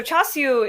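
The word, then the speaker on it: char siu: my favorite food she would have told you chasu and uh so that's so chasu is the Cantonese pronunciation the Mandarin pronunciation is chasa um my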